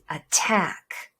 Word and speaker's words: attack: Attack. The difference is not only where to stress, but also which one uses the schwa sound. Can you hear the vowel that reduces to schwa?